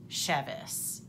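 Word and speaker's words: Chevas: Now, my name is spelled C-H-E-V-A-S, which is pronounced Chevis. I believe that the bottle is Chivas, which is C-H-I-V-A-S.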